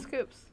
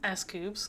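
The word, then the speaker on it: S.Coups: Which includes scoops. The name escoops comes from his name central the s and coup d' detect which means great success as everyone knows but also not pronounced like coup.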